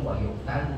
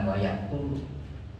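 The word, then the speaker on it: وَقُتِلَ: Makanya dibacanya wayuk talu bukan wayak tulu.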